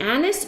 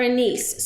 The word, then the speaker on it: anise: anise and I later thought wait is it anise or a niece so I did some research because I sit